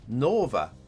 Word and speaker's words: Nova: pronunciation at the bottom local pronunciation guide for english speakers n-o-h-v-a as uh open o as in shore so nova nova buzz i'm going